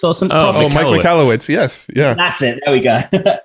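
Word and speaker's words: Michalowicz: to say his name but it's like Mike michowitz or something Mike malowitz yes yeah that's it there we go which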